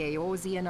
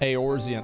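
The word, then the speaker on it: Eorzean: guilds right we forged the aosian alliance aorzian okay that's how you say it aorzia okay and at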